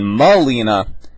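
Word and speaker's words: Melina: i forgot okay yelina is the sister and malina is is the the mom and that's how you pronounce them and then anatali and anatoly and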